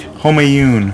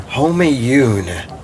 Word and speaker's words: Homayoon: Homayoon. Homayoon.